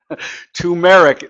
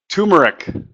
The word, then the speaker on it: turmeric: Turmeric. Now that sounds like the metric system. Turmeric.